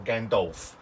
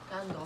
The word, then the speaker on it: Gandalf: So Gandalf or Gandolf. Let's have a look. Yeah, that's how it's spelled, I isn't think it's it? Gandalf, isn't it? Dolph. Gandalf.